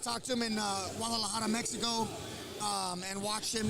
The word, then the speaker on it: Guadalajara: that dude dang we don't say it like that where I'm from we say Guadalajara Guadalajara Guadalajara you gotta you gotta go horror horror yeah don't say it